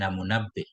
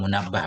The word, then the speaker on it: Munabbih: Sami'tu anna Wahb bin Munabbih. Ini bukan minhu tapi munabbih ya. Munabbih atau munabbah bacanya.